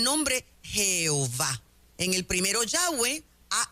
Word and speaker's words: Yahweh: propio es impronunciable porque cuando lo miras son consonantes una y una H una W una H que en sí mismo tiene su significado para que nosotros los latinos podamos pronunciarlo tenemos que colocarle vocales Así que decimos yahwe cuando usted lee la